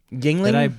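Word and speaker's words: Yuengling: So you've got how do you pronounce that beer? Yingling? That I bought for you? Yingling.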